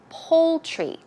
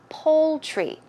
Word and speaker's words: poultry: you can also go to the poultry section pronunciation is poultry poultry as if you would pronounce pol II poultry